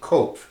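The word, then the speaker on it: Qoph: is a path called in the Hebrew system coke QoP H is a way we spell it in English those you to speak and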